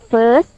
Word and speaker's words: first: When we pronounce S sound, we bite our teeth and put the air from the inside to outside, like this. And first, first, and we have First. T sound at the end.